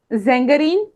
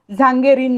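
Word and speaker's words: Sängerin: हो, अभी भी देखो वहां पे ए और उमलाउट है, आ उमलाउट, इसलिए हम लोग उसका प्रोनाउंसिएशन करते वक्त जेंगेरीन कर रहे हैं, झांगेरीन नहीं।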